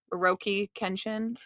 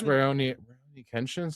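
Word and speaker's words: Rurouni Kenshin: I'm getting the name wrong, yeah. But that guy recently, wasn't he the child porn or? Yeah, the look on his skin. That's the wrong phrase. Also, I learned that it's Raoni Kenshin, something like that.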